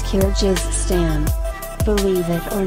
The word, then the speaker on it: Kyrgyzstan: I can't even pronounce its name. Before you ask, it's Kyrgyzstan.